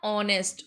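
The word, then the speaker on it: honest: ऑनेस्ट ऑनेस्ट का sound start हो रहा है ओ के साथ।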